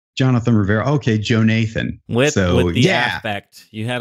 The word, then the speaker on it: Jonathan: was a snitch, and he preferred to be called Joe Nathan. It's spelled Jonathan, but he preferred to be called Joe Nathan.